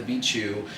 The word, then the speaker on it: Beatchu: But anyways, he had said, let's call you Beatchu, like it rhymes with Machu Picchu, and I was like, okay, but no H, I'm not white.